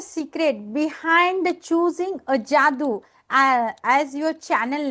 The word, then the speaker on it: Jadu: say Jadu but actually my name is not Jadu you know ja jadu you know I think